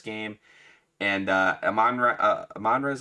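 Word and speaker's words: Amon-Ra: game uh this game and uh am manre am manre is how you say his name am manre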